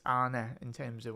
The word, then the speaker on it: Arne: obviously the Arne, it's Arne in terms of when you pronounce Arne, it's not Arnie, as the Scousers might say.